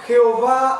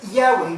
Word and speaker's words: Yahweh: soy, también conocido como Jehová o Yahová. Diferentes pronunciaciones para lo que está conocido como el tetragramatón o es difícil la palabra, pero es Yahweh, YHWH.